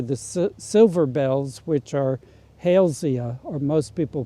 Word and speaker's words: Halesia: silver bells, which are Halesia, or most people pronounce it Halesia, but it's named for somebody with the family name of Hale.